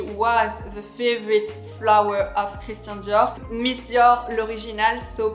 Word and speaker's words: Christian Dior: This is of course my beloved Christian Dior, so pronounced Christian Dior.